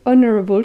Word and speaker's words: honorable: and someone told me you don't even pronounce H's for honorable so I was doing all of that hard work for nothing so suddenly I'm finding it so much easier to say honorable so thank you so